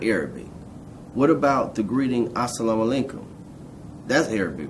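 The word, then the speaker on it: السلام عليكم: There is a mu sound at the end of the word salam, and it's followed by a wa sound.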